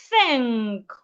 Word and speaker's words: think: So henceforth, those TH words that you'd ordinarily pronounce as a T, please put your tongue outside instead and pronounce them. Think, anthem, bath, cloth, I believe this is clear.